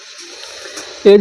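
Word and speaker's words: edge: होता है, तो देखिए जब कभी जी से पहले डी आए तो साइलेंट होगा। जैसे ब्रिज मिस होता है पुल। जैसे ब्रिज मिस होता है पुल। एज मिस होता है किनारा।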